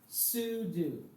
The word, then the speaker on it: sudo: Some people pronounce it sudo because it's from super user do.